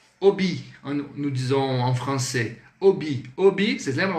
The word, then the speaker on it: hobby: Hobby. Hobby, vocês lembram? O H é mudo, então, hobby.